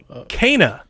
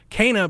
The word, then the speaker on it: Kena: the direct tomorrow the game is called kana i've been calling it kenna for half a year you learn when she pronounces her name in the game kana bridge of spirits the